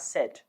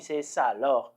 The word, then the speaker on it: ça alors: look at the pronunciation you will know that we have two vowels or one vowel following another vowel sa okay and then aloh sometimes you are tempted to sort of merge the two and then say something